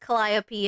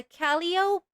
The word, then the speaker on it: Calliope: Wow, today I learned it's pronounced Calliope and not Calliope or Calliope. No, there's either way is correct.